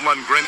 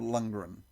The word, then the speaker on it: Lundgren: Dolph Lundgren as He-Man, Frank Langella as Skeletor.